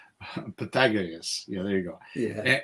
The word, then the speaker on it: Pythagoras: And an accent on the second syllable. Pythagoras.